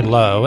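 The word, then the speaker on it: Lough: on his last name ello ugh is spelled kind of like laugh but here's what he says mine but that's not it my name is let's say low and I'm running for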